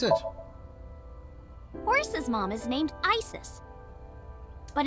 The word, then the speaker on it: Isis: horse's mom is named isis but in ancient egyptian it's pronounced closer to isa or asa fair enough hmm how